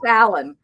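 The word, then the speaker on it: Aloyn: It was a combination of her parents' names, Alexander and Evelyn, but pronounced Alan.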